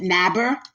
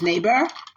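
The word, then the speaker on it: Nabers: Some people pronounce it Naber, but it's Naber.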